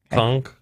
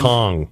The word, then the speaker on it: Kong: Conk? It's a G. It's a G at the end. Kong.